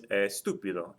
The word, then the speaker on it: estúpido: Again, if I break the word down into its syllables, I have estúpido. Notice that the TU is the third or more syllable from the end, so there has to be a written accent mark there.